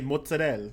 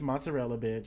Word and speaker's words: mozzarella: stop it there's a new jersey people that say mozzarella no it's mozzarella calm